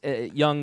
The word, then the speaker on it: Jung: thorough ladies and so so Carl Jung was young was a student of uh Freud who focused